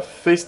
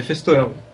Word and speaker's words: Feisthauer: il est il est marqué donc c'est faer c'est ça c'est comme ça qu'on prononce oui tout à fait faceer si on pouvez le dire à l'allemand F